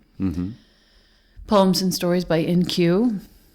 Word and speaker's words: IN-Q: poems and stories by NQ if you're wondering how his name is spelled it's i-n-q sure for in question